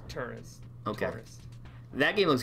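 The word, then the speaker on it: Touryst: Right, it's pronounced Tourist.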